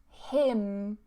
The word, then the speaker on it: hymn: So we have autumn, autumn, dam, dam, column, column, and hymn, hymn. Pronounced exactly the same way as hymn. Okay, like her and him, hymn.